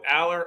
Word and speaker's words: Allar: It's Allar. We got in trouble with WVU and WVU, so I'm going to do what you say right now. Are we going to go with Allar or Allar?